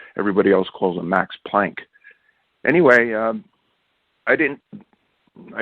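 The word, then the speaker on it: Planck: this guy it was Max plun who act actually pronounces his name plunka and I know that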